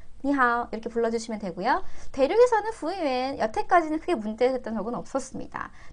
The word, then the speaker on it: 服务员: 그리고 마지막에는 유엔 발음은 실제로 되게 하기가 힘들어요. 사실은 유엔이 아니라 유엔, 유엔인데요. 앞에 후우를 연달아서 부우엔까지 하려면 힘들긴 하거든요. 하실 수 있어요. 부우엔, 부우엔, 유엔 발음을 빨리 하시면 돼요.